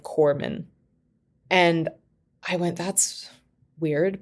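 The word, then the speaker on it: corpsman: being on sale that I had said cororsman instead of corman.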